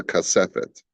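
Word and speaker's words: כספת: And how do you pronounce it? It's called a kasefet.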